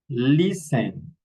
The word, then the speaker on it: listen: Castle castle Christmas passen listen mash mortgage nestle often. Okay, we don't pronounce the letter t in these words.